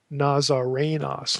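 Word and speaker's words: Ναζαρηνός: Notice there's no long O there. Nazarenos.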